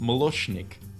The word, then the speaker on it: Moloshnik: So we've just been told by production that we've been calling him Molo, but apparently it's pronounced Moloshnik, which is Russian for milkman.